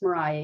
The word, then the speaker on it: Maria: So she hires a woman by the name of Mariah Davis, and it's pronounced Mariah, even though there's not an H at the end of her name. It is spelled that way.